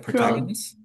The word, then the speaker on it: protagonist: proagist protagonist it's okay please help me the pronunciation p r o t a g o n i s sounds like protagonist yes yes okay protagonist protagonist ta is